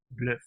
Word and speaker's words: Bløf: So this makes the pronunciation the same as a U in Dutch, Bløf.